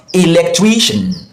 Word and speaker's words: electrician: The stressed syllable is usually the syllable before the shan.